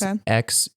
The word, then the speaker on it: Xerek: Yeah, so originally they were going to have a villain called, I think you pronounce it Zarek. It's Xerek.